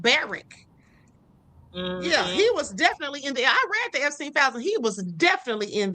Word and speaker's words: Barak: Barrack, not Barack. It's like Barrack.